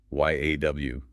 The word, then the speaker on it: yaw: Y A W. Pronounced yaw.